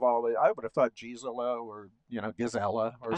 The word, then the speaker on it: Gisela: pronounced these days, but back in those days it was pronounced Gisela. You know, g i s still say Gisela. Okay, good. Yeah, to me it's Gisela.